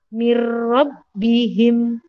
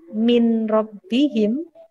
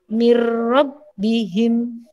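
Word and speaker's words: مِنْ رَبِّهِمْ: huruf rok atau lam Contohnya seperti ini mirrobbihim ni robbihim bukan Min rabbihim salah yang betul adalah mirrobbihim jadi masuk ke huruf roknya Hai kemudian sampingnya yang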